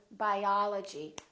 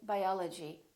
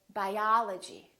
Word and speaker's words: biology: We don't say biology, we say biology, biology. I'm studying biology. Or if we say photography, I'm studying photography. I really love photography. So prolong those vowels when the syllable is stressed.